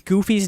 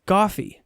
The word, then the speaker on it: Goofy: But he pronounces Goofy's name as Goffy.